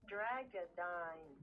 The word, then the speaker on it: Dreggodyne: Hey, app, how do I pronounce its name? Dreggodyne. Okay, Dreggodyne. Okay, that's how you pronounce it.